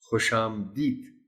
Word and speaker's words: خوش آمدید: شروع کر دیں گے۔ خوش آمدید بعض اوقات پڑھ دیا جاتا ہے، درست تلفظ اس لفظ کا ہے خوش آمدید۔ طلبہ کو مشکل الفاظ